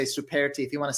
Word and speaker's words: Superti: Superti is how.